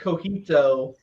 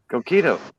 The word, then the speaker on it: coquito: always pronounce it like cojito. Coquito.